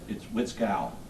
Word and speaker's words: Witskal: Whistle. My name's Witskal. Witskull. Exactly the way it's spelled it, sir.